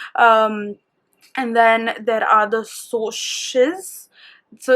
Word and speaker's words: Socs: And then there are the Socs. So it's pronounced it's spelled SOCS, which is short for socials.